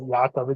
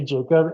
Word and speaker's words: Jakob: K in his name it's got to be pronounced like yakob there's no way it's just Jacob so it's just like what if all along this poor man's name is actually Jacob and just like his